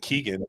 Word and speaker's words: Kegan: Kegan, like a keg and?